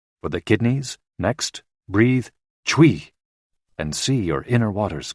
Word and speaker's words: chui: associated with the lungs c-h-u-i pronounced like Chui with a forceful exhale which is also associated